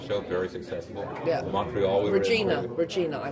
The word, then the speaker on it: Regina: Regina, I call it. Regina. Regina. Yeah, except that it's not. The town, the name that rhymes with fun.